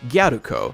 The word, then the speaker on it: Galko: character galo's name first of all is actually pronounced guko combining the term gadu with the suffix Co